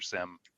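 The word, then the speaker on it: SIEM: reporting back to your sim or seam depending how you pronounce it Sentinel correctly right is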